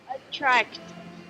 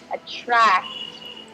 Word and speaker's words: attract: Attract. Very good. So that was much better that time. Just be careful. You want to make sure that you're emphasizing that T sound at the end. Attract.